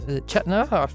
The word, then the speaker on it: Chetna: Along with Hannah, we've got our special guest, Chetner. I pronounced your name.